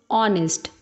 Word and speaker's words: honest: Enemy, enemy, umbrella, a, hour, honest. These two are exceptions because here H is silent and apple, a sound is coming.